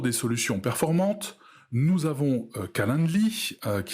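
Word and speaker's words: Calendly: fait le tour des solutions performantes nous avons calendli qui s'écrit ca l e n d l y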